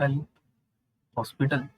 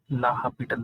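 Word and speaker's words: L'Hôpital: का यूज करते हैं जिसको बहुत से लोग एल हॉस्पिटल रूल भी कहते हैं, और इसका सही प्रोनाउंसिएशन ला हॉस्पिटल रूल है।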